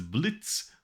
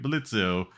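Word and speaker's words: Blitzø: said organize organization is blitz with a silent o but i keep slipping into pronouncing it blitzio because i've been reading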